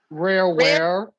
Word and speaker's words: Rareware: like Lauren Faust, Tommy Tanaka, and even the Rareware, beautiful girl. It's pronounced rareware.